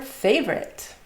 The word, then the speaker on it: favorite: Which word is your favorite? Favorite, also missing O.